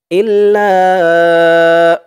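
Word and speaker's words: إلا: ওয়ামান ইয়াফআল যালিকা ফালাইসা মিনাল্লাহি ফি শাইইন ইল্লা, হামজা দিয়ে লাম ধরবে, হামজা হালামজের ইল, লাম আলিফ জবর লা, লা বলে এখানে 3 আলিফ টান দিতে হবে মধ্যে মুনফাসিল। ইল্লা, এখানে প্রথমত এক আলিফ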